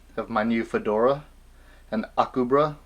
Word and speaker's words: Akubra: my new fedora and akubra which i was calling acuba but i was corrected in the comments and i thank you because i want to say it right and may i say